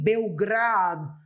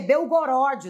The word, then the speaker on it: Belgorod: segurança pós bombardeio em Belgrado né Rebeca é belgorod não belgrad né pronuncia Belgrado então Bel esse o aqui não belgrod né que pronuncia 14 pessoas foram mortas